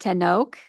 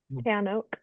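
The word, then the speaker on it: tanoak: And is the next one pronounced ten oak? Tan oak.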